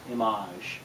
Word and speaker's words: Image: a product and it's called image pronounced Amash but it's an acrylic